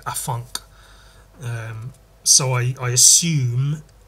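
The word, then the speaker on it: afanc: I and but that that thing is spelled a f a an C basically the same um did I say it's Welsh it's Welsh like a funk um so I I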